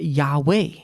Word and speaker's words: Yahweh: is where we get yahweh because if you pronounce it out yod would be yah yode h yah yode waa waa yahweh it's how it's pronounced so i hope you